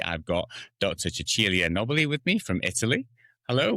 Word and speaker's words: Cecilia Nobili: Chuchilia Nobby with me from Italy.